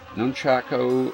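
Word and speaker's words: nunchaku: nunchucks the weo nunchucks nunchako that's how you pronounce that nunchucks uh it's a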